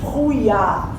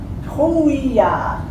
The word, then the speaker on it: brouillard: Brouillard. C'est long, c'est difficile. Brouillard, très bien. Alors aujourd'hui, il y a de brouillard. Alors passe, répétez ce mot. Brouillard.